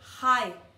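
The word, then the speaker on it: Chai: En hebreo se dice Hai. C-H-A-I. No se dice, perdón. Se dice en español con J-A-I. Pero en sí es C-H-A-I.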